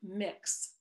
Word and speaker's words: Mx: you will decades ago the title or honorific mix which is spelled mx period is a gender neutral